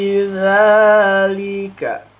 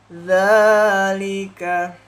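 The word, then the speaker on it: ذلك: Inna fi dzalika dzalika harus tipis. Sifatnya itu tipis. Huruf dzal itu tipis ya, dalika seperti itu. Tipis sifatnya dzal di sini.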